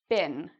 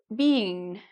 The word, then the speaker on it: been: This is a word that many students mispronounce. It's pronounced like: "bin". I hear many students say: "bean", where they try to make it a long "e", but it's more like: "been". Okay? So, it's a bit shorter.